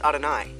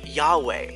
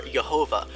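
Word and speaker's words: יהוה: First of all, this word is not pronounced Adonai. This is how you spell Adonai in Hebrew. This word is called the Tetragrammaton, and it's pronounced Yahweh or Jehovah, although it's never spoken aloud in a religious context.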